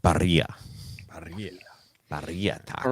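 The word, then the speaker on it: birria: It's Barria, but it's pronounced barria.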